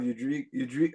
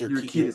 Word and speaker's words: Urquidez: You have Udriguez. I always mess up his name. One more time, Udriguez. Benny Urquidez. Benny. One more time. Urquidez. I think it's Urquidez. No, Urquidez. You're saying it right.